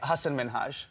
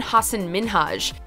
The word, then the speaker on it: Hasan Minhaj: well my name is Hasan Minhaj oh she pronounced it as Hasan Minhaj rather than Hassan min Haj prompting him to correct her not only that